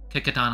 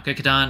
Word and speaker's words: Kecoughtan: And the green and white colorway, that is based on Howard White's high school, Kickatan High School in Hampton, Virginia. Now Kickatan has a very different spelling than the pronunciation.